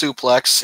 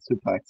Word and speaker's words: SPLX: So it's pronounced Suplex. It's mainly a clothing brand, okay. Wrestling themed, and they sponsor certain wrestlers. All right, Suplex, got it.